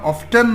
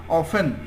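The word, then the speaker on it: often: dear friend অফেন, অফেন, এটা উচ্চারণ অফটেন না, অফেন, অফেন ওয়ান্ট, প্রায়ই চায়, গুড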